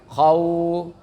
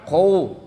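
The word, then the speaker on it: خوف: Kalau kita baca surah Al-Quraisy dulu pernah kita jelaskan khau. Jadi bukan khou. Kalau dimonyongin bingung lagi bacanya.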